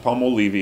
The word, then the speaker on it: Palmolive: Oh, Colgate Palmolive in Portuguese. Né? But wait a minute, in English, it's Palmolive. Why is it not Palmolive? The silent E at the end should change the pronunciation of the I.